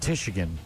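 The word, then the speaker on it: Tichigan: Yeah, it's spelled like Michigan, but it's pronounced Tishigan, is my guess.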